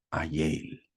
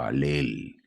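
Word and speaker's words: Hallel: Cantaron los salmos conocidos como el Ayel o Alel, si se podría decir, depende del idioma con que se pronuncia, que significa aleluya, que vienen a ser los salmos del 113 al Salmo 118.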